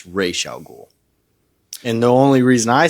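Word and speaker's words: Ra's al Ghul: to add to that my answer to the RW or r or Raz or whatever it's Raya goul and the only reason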